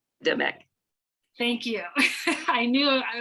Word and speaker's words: Apedemak: to the gods Amun and, sorry if I mispronounce, Apedemak. Demek.